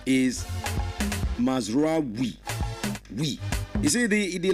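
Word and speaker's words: Mazraoui: Now the proper pronunciation of the name is Mazrai.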